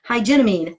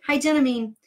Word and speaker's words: Hygienamine: And then it has, oh, man, I was going to look up how to say this. Hygienamine. Ha! I did it right. Hygienamine. Four syllables.